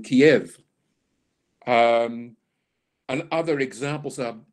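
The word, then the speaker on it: Kyiv: year we've seen that Kiev was always pronounced as Kiev uh before the Russians invaded so the ukrainians said no we don't want the Russian pronunciation we want our Ukrainian pronunciation so now when you hear the news you will generally hear news reader say Kiev rather than Kiev um and other examples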